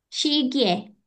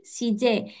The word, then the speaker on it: 시계: 4번, 시계, Shige. Shige. Kiri kanan? Kanan. Kanan. Orenco. Kanan. Oke, good. Shige. Shige. Kalau Shige. yang sebelah kiri, shije.